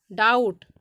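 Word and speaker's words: doubt: है अब नेक्स्ट देखिएगा अगर किसी वर्ड में बी टी के पहले आता है तो वहां पर भी बी साइलेंट हो जाता है अगर किसी भी वर्ड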